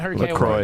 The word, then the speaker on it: LaCroix: Okay, how do I pronounce it? LaCroix? LaCroix, yeah.